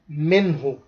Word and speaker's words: منه: This one idhar halq means the noon will be pronounced very clearly.